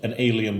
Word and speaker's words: En Aleigen: It's called En Aleigen Brewery, but it's spelled in a way that it's not alien as in space creature. It's ale-igen as in the Swedish 2 words for ale again. Ah. So it's like another ale brewery, but it's pronounced an alien brewery.